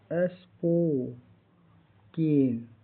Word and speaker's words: spoken: SPOKEN का उच्चारण स्पोकेन। इसके लास्ट में क्या है, EN है। इसका उच्चारण क्या हो रहा है, EN लास्ट में है, स्पोकेन। EN लास्ट में है तो EN, ई का उच्चारण हो रहा है, पोकेन हो रहा है।